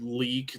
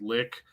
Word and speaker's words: Lik: L-I-K or well, I think they pronounce it leak, not lick.